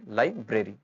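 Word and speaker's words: library: Next है हमारे पास, द लाइब्रेरी is open, पुस्तकालय खुला है, बोथ आर एंड आर, जो साउंड्स है उनको हम क्लियरली बोलेंगे, लाइब्रेरी।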